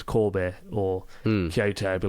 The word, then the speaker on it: Kobe: Like, no, you know, we say Kobe, actually it's Kobe, or Kyoto, it'd be like Kyoto.